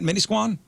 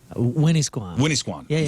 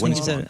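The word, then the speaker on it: Winnisquam: beautiful place it is did I say it right Min Squan Winnie Squan Winn Squan I think said right hey look they got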